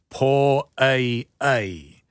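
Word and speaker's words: poʻai: And so for both of those, you put it all together, po ai. So you make sure you get the okina, but you also get the e sound at the end of ai.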